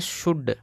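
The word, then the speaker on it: should: देखिए इसको बोलते हैं शुड एस एच से बड़ा सा ओ यू से बड़ा ऊ और एल साइलेंट है डी का ड इसको पढ़ेंगे शुड इसको पढ़ते हैं दोस्तों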